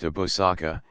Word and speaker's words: Abu al-Saka: 161 Abu al-Saka, pronounced Abusaka, equals father of munificence.